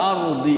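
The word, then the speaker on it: الأرض: Ada hukum ro di situ. Hukum ro itu dibacanya apa itu? Ard. Taf tafkhim. Ya. Ard. Jadi rnya sukun, donnya sukun.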